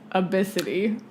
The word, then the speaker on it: Abcde: It's pronounced abicity.